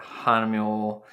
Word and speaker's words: Hahnemühle: more pronounced hanamura but for the most part it's hanamul or hanamunia i've heard hanamuli hamamula